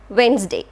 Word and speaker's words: Wednesday: its syllabus will help you to understand the silent letters in a word for example wednesday what is the spelling of the word wednesday